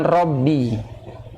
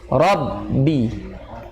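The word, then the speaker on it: رَبِّ: Fasalli li rabbika. Ya, li rabbika. Ra-nya juga tebal. Nah, ketemu ba, rabbi. Jangan li rabbi. Li rabbi harus syiddah. Karena itu ada syiddah itu, kuat. Ya. Rabbi. Jangan rabbi. Tapi rabbi.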